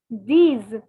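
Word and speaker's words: dix: and finally 10 is these these so see you can see that six was c's and ten is these so see they both are rhyming so c's and these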